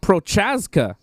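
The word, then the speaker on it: Procházka: Prazov. P-R-A-Z. Yeah, Z. He's from Czechoslovakia. His name is, it's like Prochaska. Prochaska, that's it, yeah. Prazov.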